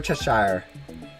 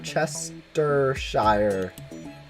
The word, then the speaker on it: Cheshire: it's a huge discrepancy we're Cheshire we're a Chester Shire where Chester Shire Lola I don't know why but Americans can't pronounce it because we're dumb or at least I